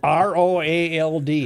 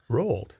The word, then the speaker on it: Roald: R- r o a l d, how would you say it? How would you say it? Roald. Yeah, it's Roald. No, no. Roald Amundsen, the famed Norwegian